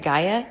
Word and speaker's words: Gaia: I pronounce it Gaia, G-A-I-A. I don't know how anybody else pronounces it, but it's simple.